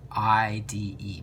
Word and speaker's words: ide: we generally change the ending to I de pronounced I'd so for example chlorine